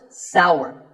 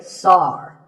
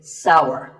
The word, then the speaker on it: sour: It's pronounced sour. Some people say sour. That is a mispronunciation. The only correct way to say this word is sour.